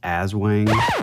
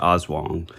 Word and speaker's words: Aswang: always heard of it called like awang which is probably just an Americanized you know mispronunciation mispronunciation yeah so I think it is awong but when I had